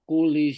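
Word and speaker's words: كُلِّ: Tabarakalladzi biyadihil mulku wa huwa ala kulli syai'in qadir. Oke, sekarang fokus ke kul. Nah, itu kan ada tasdid kan lamnya kan ya? Ya. Nah, cara bacanya ditekan.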